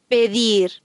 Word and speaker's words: pedir: The Spanish D is pronounced soft after a vowel. Pedir. Ruido. After an N or L, the Spanish D is hard.